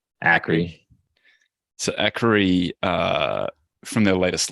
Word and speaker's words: Akre: Is it Acre or Akre? Akre.